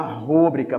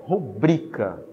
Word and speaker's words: rubrica: Só que você pronunciou essa palavra errada. Porque a sílaba tônica dessa palavra é aqui, ó, no bri. Então, o correto é rubrica.